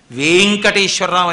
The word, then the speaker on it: వేంకటేశ్వర: చదవకూడదు అందుకే గుణింతాలు ఉంటాయి వెంకటేశ్వర లేదు వేంకటేశ్వర అక్కడ వే కి దీర్ఘం ఉంటే మీరు వేం అనాలి వేంకటేశ్వర అని పేరు పెట్టుకొని నా పేరు వెంకటేశ్వరరావు అని అనకూడదు వేంకటేశ్వరరావు అనే చెప్పాలి దీర్ఘం ఉంటే